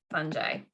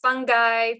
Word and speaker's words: fungi: plants the animals and most funjay fungi by the way can be pronounced fungi fungi fungi and we'll talk about